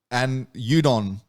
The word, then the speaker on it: Udokn: And Udokn, you've been in this development world for a little while. I guess first, what does the name represent? As I said, the K is silent.